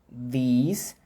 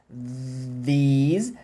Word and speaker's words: these: Todos os indicativos, por exemplo, do inglês, eles usam esse mesmo TH, né? Este, esta, aquele, aqueles, aquelas, esses, essas, em inglês. This, these, that, those. É tudo, ó, travado.